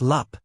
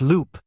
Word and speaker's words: loop: It's not lup, short U. It's loop, long U. Like moon.